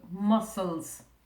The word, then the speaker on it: muscles: It's a funny looking word because it's got this SC in the middle and you can't hear that. It's a soft C. So muscles.